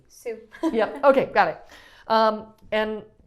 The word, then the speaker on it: su: Okay, su is like S-U, but it sounds like the name Sue. Sue.